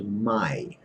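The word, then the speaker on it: mai: ones my MA I AI is always pronounced I like your I know that you have I so the word is my means never and that's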